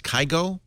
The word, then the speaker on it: Kygo: It's pronounced Kygo. AC/DC is huge. Kygo is popular.